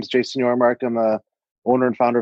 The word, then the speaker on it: Yormark: your social media agency social Mystics if I'm pronouncing it right you got it yeah so my name is Jason your America I'm a owner and founder of socialistic so